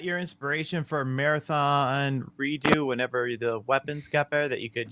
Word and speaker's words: redux: Cyberx says, why do you pronounce redux as redo? It's weird. Who does that? French.